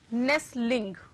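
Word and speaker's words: nestling: नेस्लिंग, ठीक है, नेस्ट T silent, नेस्लिंग।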